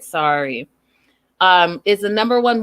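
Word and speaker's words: Sarai: i'm saying it right maria says it's sari it's spelt s-a-r-a-i sorry so i'm going to say it sorry um is the number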